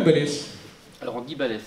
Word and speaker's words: Ballès: On dit Ball ou Ballès? Alors on dit Ballès. On dit Ballès, c'est Toulouse. C'est ça, c'est le sud, on prononce yes.